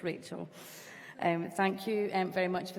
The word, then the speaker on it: Rachel: My name's been pronounced a whole host of different ways since I took on this role. It's Rachel.